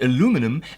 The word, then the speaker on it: aluminum: the British say and aluminum as the American say and aluminium as we